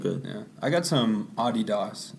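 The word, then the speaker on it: Adidas: yeah I got some Audie Docs as it is pronounced in Germany it's a German company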